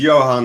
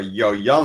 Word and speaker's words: Johan: So my name is Johan, or Jojan, whatever you prefer. People ask me why Jojan or why Johan. Johan is official, nickname Jojan, because my brother was not able to pronounce the H.